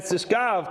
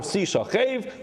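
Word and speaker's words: תשכב: Rather, he said the words were Ves Zachar Lo Sishkav, and Sishkav could either be pronounced Sishkav or Sishachev.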